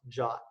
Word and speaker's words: JWT: didn't make that up JWT is pronounced jot it stands for JSON web token and it is a